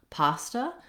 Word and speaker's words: pasta: Then we have the word pasta. Again, we have a stressed syllable. The first syllable, pa, has the clear vowel ah, and then the second A sounds like it's an unstressed schwa, pasta.